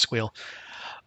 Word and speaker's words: SQL: run with it um that's SQL for those people who don't believe that squeal is pronounced squeal um so the uh